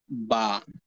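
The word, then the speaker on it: ب: কারণ হচ্ছে বা অক্ষরটি উচ্চারিত হয় দুই ঠোঁট থেকে। অর্থাৎ উপরের ঠোঁটকে নিচের ঠোঁটের সঙ্গে যুক্ত করে এবং নিচের ঠোঁটকে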